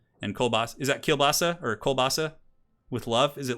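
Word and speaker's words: колбаса: Kolbasa? Kolbasa. Borscht. So it's just borscht. Okay. Kolbasa is more Russian. Polish people say kielbasa.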